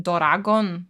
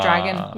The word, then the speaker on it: Doragon: It's written Doragon, like a Japanese would say, like it's in syllables, like Doragon. It's not dragon.